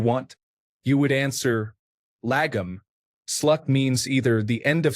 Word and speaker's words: slut: say that you have slut on apples because there are no more left. It is not pronounced like the English word slut. The U is pronounced more like the first U in ukulele.